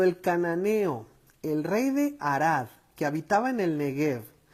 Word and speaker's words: Arad: En el hebreo, Arad, que se pronuncia Arad, Arad, más o menos, ¿verdad?